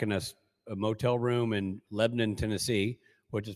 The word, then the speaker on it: Lebanon: a motel room in Lebon Tennessee which is pronounced or sorry spelled Lebanon but it is pronounced Lebon uh and so we were I was staying in a hotel in Lebon Tennessee and uh was